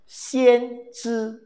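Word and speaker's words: 先知: Bacanya sangat menarik. Xian Zhi.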